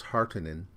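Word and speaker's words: Harkonnen: used to saying house heartening which is how they pronounce it in this film it's always been heartonin in my brain and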